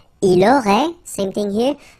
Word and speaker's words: Il aurait: Il aurait, same thing here. Final T is not pronounced.